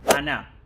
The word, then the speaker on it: она: Cómo se dice ella Ana este es fácil acuérdense de Ana pero agréguele Ana la tilde en la a final y Cómo se escribe